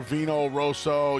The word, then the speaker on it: Vino Rosso: big win uh for Vino Rosso you're not really supposed to roll your RS twice in the call by the way um